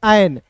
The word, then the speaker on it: an: फिर देखिए यहाँ पे AN है, तो AN को क्या पढ़ेंगे, एन। ए का उच्चारण ए के रूप में, अ के रूप में नहीं पढ़ेंगे, इसे ऑन नहीं पढ़ लीजिएगा, ठीक है। इसे ऑन नहीं पढ़ेंगे दोस्तों, इसे पढ़ेंगे एन, ठीक है।